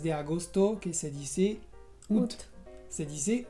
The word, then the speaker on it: août: También hay casos muy particulares, por ejemplo, el mes de agosto, que se dice août. Se dice août, la A al principio es muda, así es.